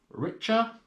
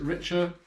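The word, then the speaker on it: Richa: up were these motorcycle gloves they are by richer yeah that's how you pronounce it richer good Motorcycle Company um motorcycle clothing company I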